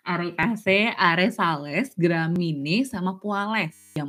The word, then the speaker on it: Arecaceae: Sebenarnya bacanya Arecaceae sih teman-teman.